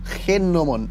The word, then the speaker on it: gnomón: del universo empezó con nomón. Nunca había escuchado eso. Se escribe G, como los nomos. Gnomón, gnomón, que es la parte